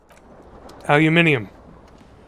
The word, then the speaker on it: aluminium: Aluminium. The proper way to pronounce that word.